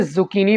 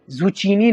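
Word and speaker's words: zucchini: तोरी को इंग्लिश में जुकनी बोलेंगे इसको आपने जुचीनी नहीं कहना सुखनी सुखनी फालूदा को इंग्लिश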